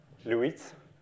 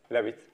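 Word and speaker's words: Leavitt: And you must tell me how you pronounce this name. Lewitt. How do you pronounce it in English? Levitt.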